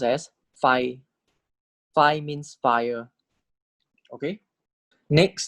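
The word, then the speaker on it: ไฟ: And then Sara I, so this is pronounced as Fai.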